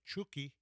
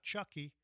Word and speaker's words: Chucky: Make sure I say it right. Chuki, not Chucky. Of course, the movie was Chucky, but I'm going to call him Chuki because I was told I should call him Chuki.